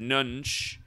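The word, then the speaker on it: Nunge: who had the winning shot was john richard nunch that's how you say his name he goes by jack nunch but notice he's 23 years old in his full name 83.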